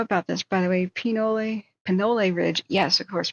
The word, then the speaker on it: Pinole: By the way, Pinole Ridge. Yes, of course, Pinole. That makes more sense with the pronunciation.